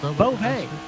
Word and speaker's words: Bove: Is that how you say it, Bove? Bove. Yes, that's what the accent is.